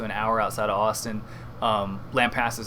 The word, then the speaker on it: Lampasas: hour outside of Austin Lampasas spelled like lamp la MP ASAS Lampasas and the goal of